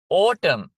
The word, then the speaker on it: autumn: දැන් මෙතන autumn ගිම්හාන කාලය. autumn විතරයි න අකුර silent.